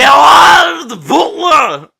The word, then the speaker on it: Gerard Butler: How do you pronounce his name? Gerard Butler!